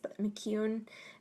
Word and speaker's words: McKeown: It's McKeown. It's spelled weird.